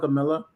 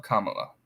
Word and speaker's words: Kamala: ways I call it Camila I know that song it's Kam M just just just rhyme it with Mom mamala Kamala then then you got